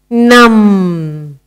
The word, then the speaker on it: numb: Next word is numb.